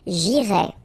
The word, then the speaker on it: j'irai: The first one, j'irai. Okay, remember, final S not pronounced.